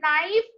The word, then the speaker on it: knife: Okay, here K is silent. So what is the spelling of knife?